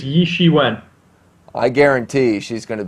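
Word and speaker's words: Ye Shiwen: are hearing her name how do you pronounce it again i believe it's yi she went i guarantee she's going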